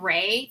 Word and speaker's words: Reay: So yeah, no, if you go and look on my Instagram, my handle is Ray. That's spelled Reay.